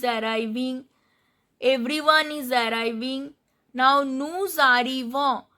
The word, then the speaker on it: nous arrivons: So here I am pronouncing this S. Nous arrivons, vous arrivez, ils arrivent, elles arrivent. Why? Because this is liaison. This word is followed by the word which starts with a vowel. So arrivo starts with vowel A. So the final consonant is pronounced here. This is called liaison.